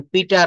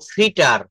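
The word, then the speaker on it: Peter: ফ ব সেই ফবু এটা কিভাবে বলব দেখেন পিটার না বলব ফিটার ফিটার ফিটার আমার সাথে বলেন ফিটার ফিটার ফিটার টিকে ঠ বলব ফিটার ফিটার ফাইপার ফিটার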